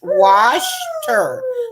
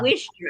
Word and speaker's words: Worcester: But Okay, Norma says it's pronounced Washter. So Washter or Wishter? I guess I would say Washter because I put the R, but he says Worcester.